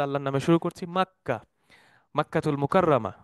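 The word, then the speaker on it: مكة: তো আমরা প্রথমে শুরু করি মাক্কা রেহলাতুনা। আমরা প্রথম অংশ আমরা শুরু করছি বিসমিল্লাহি নাবদা, আল্লাহর নামে শুরু করছি। মাক্কা, মাক্কাতুল মুকাররামা, মক্কা যেটা আমরা বাংলায় বলে থাকি, বাট আরবিতে উচ্চারণটা হচ্ছে মাক্কা।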